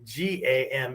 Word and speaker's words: kamae: The K becomes a G or the G becomes a K based on context and the word or syllable coming before it, right? And some English speakers heard it a certain way and just translated it that way.